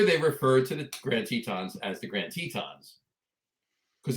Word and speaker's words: Tetons: ah and whenever they refer to the Grand Tetons as the Grand Tetons because that was the